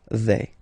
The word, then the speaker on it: vais: Remember, final S not pronounced. Je vais.